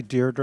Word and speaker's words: Deirdre: It's actually Deirdre. Go ahead. It's actually Deirdre, my sister. But the reason I mentioned the correct pronunciation is she's been living with mispronunciations of her name for her entire life.